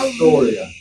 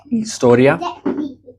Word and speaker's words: historia: And then H, as we mentioned, is silent. Hielo, historia.